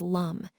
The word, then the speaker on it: Lam: For the root chakra, the mantra is Lam, pronounced as Lum.